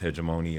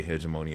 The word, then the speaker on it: hegemony: called hegemony and or I think it's pronounced heedgeimony or some people say hedgeimony or hegemony but what it basically